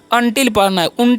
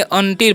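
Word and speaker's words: until: हम क्या पढ़ते हैं अटिल नहीं पढ़िए ठीक है अनटिल पढ़ना है क्या पढ़ना है अनटिल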